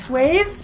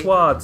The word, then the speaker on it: swaths: pronounce it swathes, but I know it as I've probably... heard it's swaths as well.